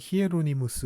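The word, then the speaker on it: Hieronymus: 이라고 하는 사람이 있습니다 제롬 이라는 것은 아 영어식으로 이름 발음이 고 어 이제 라틴어 식으로 일도 스킬 입었을 경우에는 히에로니무스 라고 하는 사람입니다 성 히에로니무스 성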